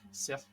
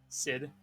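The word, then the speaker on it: Sìth: A cat Sith, or Sid, or there are many other ways of pronouncing it, but still, is more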